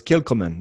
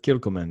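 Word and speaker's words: Kilchoman: that better come in oh it's kill command yeah kilkelman yeah the ch is a hard cut you're doing the isla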